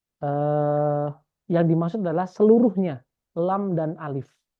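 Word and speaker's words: لا: Kalau di sini menggunakan takbir la, maka eh, yang dimaksud adalah seluruhnya, lam dan alif. Tapi dibacanya bukan lam alif, tapi la, la.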